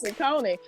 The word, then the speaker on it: Saucony: I think the correct pronunciation is Saucony, but you know, I mean, like, it's almost like you know better, you should do better. But let's get through the conversation, and I think it's Saucony.